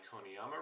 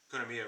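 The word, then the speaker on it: Konamiya: into that here are my koniyama runes gonna mia ruins sorry i'm pretty sure i was mispronouncing it i did get him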